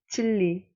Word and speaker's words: 진리: Be careful with your pronunciation. It should be pronounced 진리, 진리.